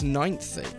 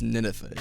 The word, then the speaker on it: Ninethie: yeah see a lot of people think it's ninthy um that's where i thought it grammatically makes